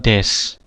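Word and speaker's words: です: Kata benda, nama atau status, akhiran des. Tulisannya desu tapi bacanya des, ya. Ingat, tulisannya desu dibaca des, bukan dibaca desu, ya. Bacanya des, ya. U-nya hilang.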